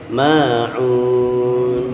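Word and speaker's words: ماعون: Ma'un, ma 2 harokat. Ada yang terjebak, ya, seolah-olah ma'unnya itu setelahnya hamzah padahal ain, ya. Jadi dibacanya panjang. Wa yamna'unal ma'un. Harusnya ma'un, bukan ma'un, ya. Jadi itu mad tabi'i.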